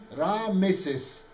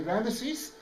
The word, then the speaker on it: Ramesses: Ramesses originally is Ra Moses. Yeah, Ramesses. Ramesses. You got it? So Ra is the sun god and Moses means the child. So we say Ramesses, it's the way we pronounce the name now.